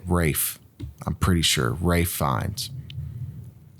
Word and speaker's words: Ralph: than Rafe oh God Ron just say it right it's Ralph it's Rafe that's how you say it Rafe I'm pretty sure Ray